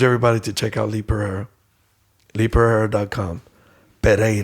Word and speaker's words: Perreira: to check out Lee Pereira Lee Pereira calm better you know if you're Hispanic or Portuguese I can roll your R's which I am so